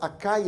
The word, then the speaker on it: Achaia: That's the way we pronounce it, of Achaia and Macedonia.